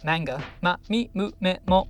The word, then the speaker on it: manga: read japanese comics or manga manga not manga i've never understood where that strange pronunciation comes from it's almost always in